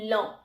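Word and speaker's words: lent: Okay, अब ई एन टी की जो प्रोनाउंसिएशन है अगेन वो हो जाएगी ओ। ओके, सो इसकी जो, अगर हम इसे एक साथ पढ़ेंगे तो इसकी प्रोनाउंसिएशन कुछ इस तरीके से होगी, लॉ।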